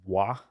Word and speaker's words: Roi: Uh, a really famous example of this would be in Roongi, there's a building, it's spelled ROI, it's pronounced Wah, which means king in French.